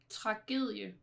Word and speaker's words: tragedie: Another one of those with the soft D.